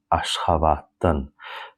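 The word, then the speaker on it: Aşgabatdan: And the next thing I want to tell you, please pay attention how I read. I do not say Ashgabat'dan. No. I say Ashgabat'tan.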